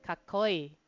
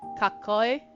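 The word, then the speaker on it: かっこいい: So you're gonna say double I's, which is, well, E basically. So kakoi, E.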